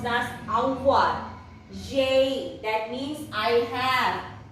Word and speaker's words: avoir: It is pronounced as avoir.